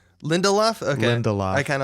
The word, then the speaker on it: Lindelof: that you pronounce his name like it rhymes with Lindy Hop which I appreciate Lindy Hop but I think it's I think it's Lindelof Lindelof again de la I